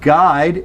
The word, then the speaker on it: guide: Okay, in the same way, we have the U in guy, and we have a U in guide, and both of these are long I, and then a short I in guilty.